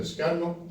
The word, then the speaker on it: escaño: Puedo falarte del escano, allí la ñ no la pronunciamos. ¿Sabes lo que es el escano? El escaño, sí.